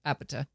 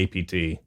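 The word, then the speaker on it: APT.: Ros with Bruno Mars Apeta or AP as I sometimes hear it called on the TV. Yeah, I' I I'm glad to know how it's pronounced now. I'm going to call it AP.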